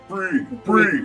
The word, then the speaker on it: Bree: Bree. Yeah. yeah, it's one syllable, so they catch it Yeah, really one quick.